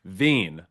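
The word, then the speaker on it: Veen: One, Zack Vine, who every time I say his name, I think of Vaccine.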